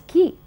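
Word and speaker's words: quay: Then you have Q-U-A-Y. M-A-Y would be May, but Q-U-A-Y is key.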